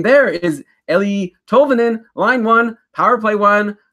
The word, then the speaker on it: Tolvanen: Tolvanen.